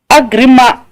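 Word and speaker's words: Agrément: Agrima. Or you call it agreement or something. But why is it written like agreement? I'm not a French. Then you see, that's a problem. It's pronounced agrima.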